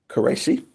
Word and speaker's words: Qureshi: Miss, I'm going to pronounce this absolutely correctly. Qureshi? Correct. Qureshi, yeah.